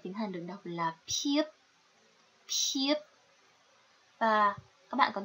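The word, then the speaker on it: 피읖: này là phờ, nhưng thực sự thì nó không phải là phờ, mà các bạn hãy chú ý là chúng ta sẽ dùng môi để phát âm ra âm này.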